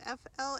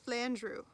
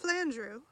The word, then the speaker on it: Flandreau: flandreau but it's not flandro it's flandrew okay got it flandrew so i reached flandrew rhymes with andrew at lunchtime and decided